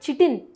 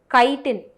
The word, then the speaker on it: chitin: நிறைய பசங்க I have seen them pronounce it chitin. chitin கிடையாது, chitin, KI-ன்ற மாதிரி ப்ரொனவுன்ஸ் பண்ணும், ஓகேவா?